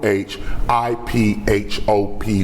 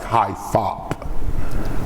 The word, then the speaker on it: hip-hop: So consciousness, hip-hop is spelled with a capital H I P H O P one word. It looks like high phop. But it's hip-hop.